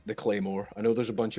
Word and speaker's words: claymore: It's spelled in Gaelic, and I've heard people pronounce this all sorts of wrong. It is just pronounced the claymore.